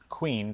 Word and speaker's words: Kouign: and you're looking for the thing labeled Queen, Q U E N, you're going to look for a long time. Yeah. Um, it's spelled K O U I G N, which is exactly